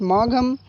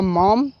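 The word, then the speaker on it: Maugham: पहला है रॉबर्ट लिन, दूसरा है विलियम समरसेट मॉघम या मॉम, दो प्रोनाउंसिएशन उनके नेम का है, number third Booker T Washington और फोर्थ चार्ल्स लैम।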